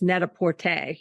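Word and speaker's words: Net-a-Porter: you said this that I miss pronounced the name of the company it's Neta Porte is that it that is correct yeah okay okay so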